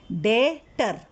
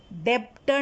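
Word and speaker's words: debtor: अब डेटर में ये जो बी है ना, वो साइलेंट होता है। डेटर, डेप्टर नहीं होता।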